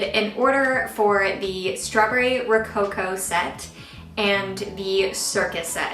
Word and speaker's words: Rococo: set and the strawberry I need to learn how to say this word Rococo Rocco cow let me look this up really quick okay I just looked it up it's Rococo so um I did an